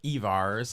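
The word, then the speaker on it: Yvars: Yep, Evars. I had the pronunciation right.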